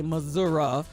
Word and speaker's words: Missouri: in kansas and missouri in missouri uh i i say missouri some same say some of y'all say mazura but uh listen wherever you are and however you pronounce it get out there and